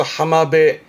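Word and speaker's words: 浜辺: 그래서 하마베 하마베 요게 물가 빈자인데 그래서 하마베 물가 즉 해변을 말하는 앞에 있던 우미배와 비슷한 의미로 씁니다.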